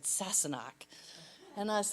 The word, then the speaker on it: Sassenach: And she pronounced it for me. She said, Sassenach.